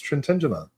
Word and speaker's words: Trintignant: It's Trintignant.